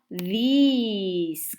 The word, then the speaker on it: these: Luego, los objetos que están cerca pero son más de uno, están en plural, sería these, como una i más larga que se escribe DC.